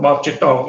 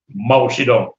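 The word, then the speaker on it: 毛泽东: proud to hear about mao chitong it was rhymes with pablo but now it's pronounced as mao zedong like the bottom of your tongue it's pronounced now as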